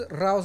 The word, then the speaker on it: Rauw: Tiny isn't spelled Tiny, but it's spelled Tainy. Because So what is Rauw's real name? Raul.